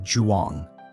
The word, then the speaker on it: Zhuang: Zhuang sounds like Juang.